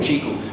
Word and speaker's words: QiKU: spelled as Qi KU it is pronounced as the fruit chiku and the smartphone is